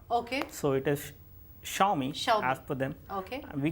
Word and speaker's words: Xiaomi: So they call it Xiaomi. Xiaomi, because in Chinese pronunciation, whenever XIA comes, so they pronounce it Sha. Okay. So it is Xiaomi as per them.